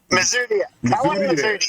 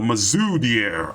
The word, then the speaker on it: Mazoudier: Doggone it, Big J, I forgot to pronounce his name again. Mazoudier. There you go. Mazoudier.